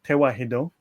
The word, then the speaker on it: Tewahedo: And Tawahidos, the modern pronunciation is Tewahedo, but it is related